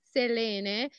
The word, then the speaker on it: Selene: say wrong clearly name the correct pronunciation is Selena is a Greek name and means moon Wow yeah nice yeah and